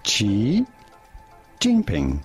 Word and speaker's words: Xi Jinping: We are looking at how to pronounce Xi Jinping. Okay. Xi Jinping.